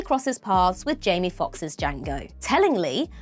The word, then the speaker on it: Django: paths with jie Fox's Django tellingly when Jango tells him that the D in his name is silent he retorts with I